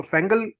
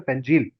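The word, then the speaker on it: Fengal: तो फेंगल लिखा है लेकिन इसको सिंस ये सऊदी अरेबिया ने वर्ड दिया है, इसका प्रोनाउंसिएशन है फेंजील।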